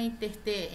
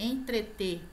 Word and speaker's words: entreter: vai entretê-la a muita gente fala intertemas na interter entreter recorde outra palavra que a pronúncia é recorde na palavra não é e